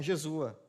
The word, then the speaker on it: Jesua: Quando nós olhamos para Jesua, no capítulo 3, os irmãos já estão pegando a pronúncia, né, Jesúa.